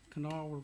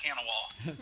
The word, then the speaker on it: Kanawha: You're in the hurricane that's Greater Charleston and Kanawha River, correct? Correct. You pronounced it correctly. Most people call it Kanawha.